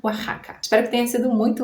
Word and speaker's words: Oaxaca: E as palavras lá do México, também nomes próprios, nomes de pessoas e lugares, que começam com X ou que tem o X no meio, devem ser pronunciadas com som de J, como em México, Jimena, Oaxaca.